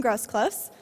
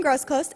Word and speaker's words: Groseclose: Tim Groseclose. Did I say it correctly? No Z? Okay. So Tim Groseclose is a professor of